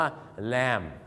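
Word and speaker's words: lamb: แกะ เนี่ย นะ ครับ มัน สะกด เป็น L B เ นะ ครับ ผม L B เนี่ย มัน ก็ ออก เสียง ว่า แลม รู้ จัก พี่ คน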